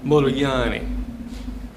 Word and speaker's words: Modigliani: it's spelled like this m-o-d-i-g-l-i-a-n-i now Americans look at that and want to pronounce it Modigliani is that what you